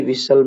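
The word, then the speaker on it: whistle: यहाँ पर सब में टी लेटर साइलेंट है। लिसन में भी, विसल में भी और हसल में भी, तीनों में टी वर्ड जो लेटर है वो साइलेंट है, तो यहाँ पर हमारा डी ऑप्शन हो जाएगा।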